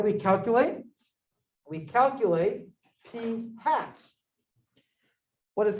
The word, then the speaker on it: pi: It's not pronounced pi, it's pronounced P. No. I mean, I did have pie yesterday, it's true. Both pizza and apple, just so you know. However, the real pronunciation, if you ask anyone who actually speaks Greek, is much closer to P than it is to pi.